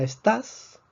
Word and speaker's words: estás: la fuerza la palabra estas vemos que lleva la fuerza en la última sílaba es una palabra aguda